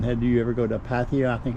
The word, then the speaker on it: Pattaya: Had you ever go to Pattaya? I think it's pronounced Pattaya, Thailand.